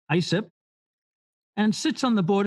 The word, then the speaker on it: ISIP: He is also founding member at the International Society of Service Innovation Professionals, pronounced ISIP, and sits on the board of directors there.